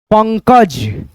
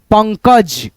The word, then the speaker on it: पंकज: इस बिंदी को हम लोग न पढ़ते हैं। चन च न द चंदा ऐसे करके संजना संजना रंजन रंजन आ की मात्रा लग जाएगा तो रंजना हो जाएगा पंकज पंकज ठीक है अब दोस्तों